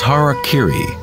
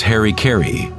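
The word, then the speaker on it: hara-kiri: one form of ritual suicide or seppuku was hara kiri was often mispronounced as harry kerry it means to impale one's horror thereby cutting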